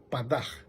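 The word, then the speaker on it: פָּדָה: Y otra que se llama Padaj, es P-A-D-A-H, pero lo pronuncia como G, Padaj.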